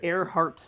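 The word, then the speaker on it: Ehrhardt: I built that thing learn how to say it air heart two limited edition kits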